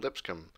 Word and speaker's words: Lipscomb: And I was told in the comments that's how you say it, not Lipscomb or however I was saying, Lipscomb or Lipscomb.